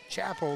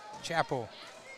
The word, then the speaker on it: Chapel: Okay, Linda, all right, she said good rebound pronounced chapel like a church. So, okay. Got you, Linda. Chapel.